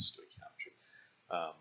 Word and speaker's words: stoichiometry: That's how you say it, stoichiometry.